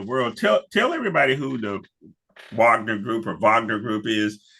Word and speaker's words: Wagner: Somebody pulled me aside and says, W's are pronounced V's over here, fella, and V's are pronounced like F, okay?